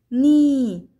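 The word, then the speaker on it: knee: هنا لدينا كلمات بدأت بحرف الك ثم حرف الان، إذن حرف الك لا يلفظ فقط يكتب وتلفظ ن ن، مثل كلمة نوب نوب وتعني مقبض الباب، نوك نوك وتعني يطرق الباب، ني ني وتعني الركبة، نايف نايف وتعني السكين.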